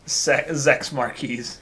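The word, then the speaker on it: Zechs Merquise: No, it's Zex in English because sex sounds like sex, so we just pronounce the Z as it is Zex.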